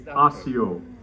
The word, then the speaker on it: Asio: It's not Asia, it's Asia. It's really, in our pronunciation, it's Asio.